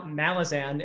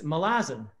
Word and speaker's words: Malazan: realize this um so that's why it's not mal malazan it's malazan um so just my little